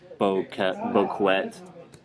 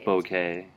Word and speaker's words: bouquet: you want to say bouquet, but it's not. It's bouquet. Bouquet. Because it comes to us from French, so that last part is just a. The T is silent.